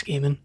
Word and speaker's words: Neil Gaiman: I was like now I don't know how it's actually pronounced as a game with a guy man Fischer it's game in that I figured I think it's gaming only recently learned that